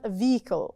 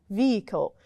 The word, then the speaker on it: vehicle: Then we have vehicle, and don't forget that the H here is silent. Again, vehicle.